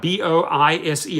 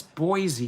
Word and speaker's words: Boise: And I would spell it out, B-O-I-S-E. And they said, no, that's Boise, you idiot. So finally I learned it's actually Boise.